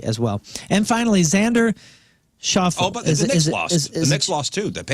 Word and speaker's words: Schauffele: Xander, is it Schauffele? Schauffele.